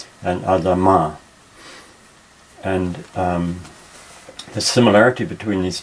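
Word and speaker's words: אֲדָמָה: ground by the way the traditional emphasis in Hebrew is nearly always on the last syllable so Adam and Adam are and the similarity between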